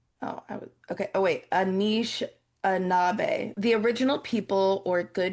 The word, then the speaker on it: Anishinaabe: pronounced Anishinaabe. Oh, okay. Oh, wait. Anishinaabe.